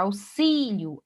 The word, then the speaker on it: auxílio: Auxílio, aqui, ó, eu auxilio, auxilia o li, que é a sílaba mais forte, paroxítona terminada em O não acentuado. Agora, auxílio, aí sim é acentuado, porque o si, que é a sílaba mais forte, paroxítona terminada no ditongo ió.